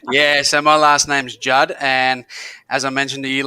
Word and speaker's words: Judda: So the way that you guys can remember how to say his name now, just remember, like the Judds, the singing mother-daughter group, the Judds, Judd, add an A, Judda. Judd, Judda.